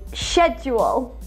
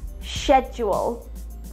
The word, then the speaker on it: schedule: Schedule. This is someone's day-to-day plan. In British English, you will hear schedule. And in Canadian English? Schedule.